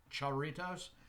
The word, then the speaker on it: Jarritos: Believe I am pronouncing that right now. Jarritos.